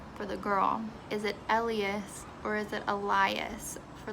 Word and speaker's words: Elias: look up the pronunciation it is liar and it is elias so it's always the i sounding pronunciation so yeah what have